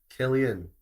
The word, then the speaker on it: Cillian: Killian should be a K. You don't usually pronounce a C as a K in that kind of context.